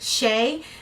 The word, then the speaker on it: Chae: princess Shea so uh c-h-a-e is pronounced Shea um and that's a